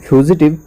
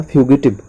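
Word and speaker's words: fugitive: पहला वर्ड है आपके सामने फ्यूजिटिव या फ्यूगिटिव। इसको दोनों तरीके से प्रोनाउंसिएशन किया जाता है।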